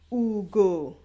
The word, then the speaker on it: ugo: So this is Ugo. Ugo. So that's deep, going down.